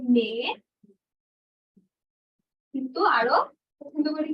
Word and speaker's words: mais: মেয়ে নর্মালি মেয়ে, মেয়ে উচ্চারণ করে না, মেয়ে, মে মাস এরকম উচ্চারণ।